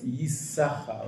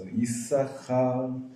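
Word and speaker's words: יששכר: Not bad, but the shin in Yisachar is a sin. It's a sin. Oh, sin. With a dot on the left hand, so it's Yisachar, right?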